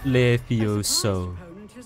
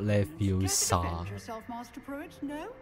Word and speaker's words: Levioso: Levioso, not Leviosa。